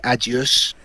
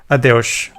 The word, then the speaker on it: Adeus: but in Portuguese you say adios. Adeus.